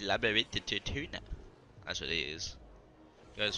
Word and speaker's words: Labyrinthodontia: Labyrinthodontia. I didn't know it was like said like that. I almost went for all out. I could have lost. Labyrinthodontia. That sucks. Labyrinthodontia. Nah, it's Labyrinthodontia.